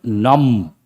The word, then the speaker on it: numb: Please write the word numb. Underline the letter B. B is silent.